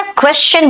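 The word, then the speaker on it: question: जब S के बाद T आता है ना तो वो श नहीं च बन जाता है।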